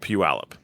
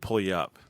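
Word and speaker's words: Puyallup: and there's a town in Western Washington called Pew Alip. Yeah. Yep. Okay. For the first month and a half that I lived there, I pronounced it pull you up.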